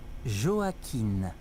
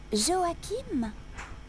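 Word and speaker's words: Joaquin: 7 ah je m'appelle Joakin comment ça s'écrit j o a Q u i n Joakim non Joakin avec un N M comme Marie non n comme Noémie B vous vous appelez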